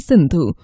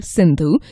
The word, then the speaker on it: Sindhu: In their language, the S became H, so they pronounced the river's name as Hindu.